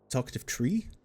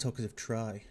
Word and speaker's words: Talkative Tri: Talkative tree. Oh, it's pronounced talkative try.